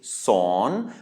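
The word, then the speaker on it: สอน: the high-class consonant, but this time it is a live syllable because we have a sonorant final consonant. This is son, which means to teach. So it's sauceur o ang nonu, and because we have a live syllable, that means that we have a rising tone.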